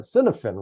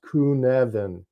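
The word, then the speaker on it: Cynefin: an English standpoint or standpoint we call it cinen right c y NE f i n copen but it's actually pronounced kunan and by the way I've heard more people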